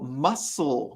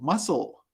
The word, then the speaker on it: muscle: that doesn't have a sound in the word muscle the sea is silent very good irene so muscle muscle we don't say muscle people would look at